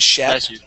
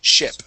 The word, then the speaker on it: ship: ship ship good yeah here you would actually use the short e and you said Shep okay you had said Shep um but yes it would be a short I sound okay a short e is she and a short I is sh okay so this word